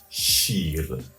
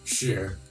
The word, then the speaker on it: شیر: With the language aspect of it, in Farsi, the word for lion is shir. Shira? No, shir. Sheer. Shir. Sheer. Yeah, just a word of a similar pronunciation exists in the English language, S-H-E-E-R, sheer.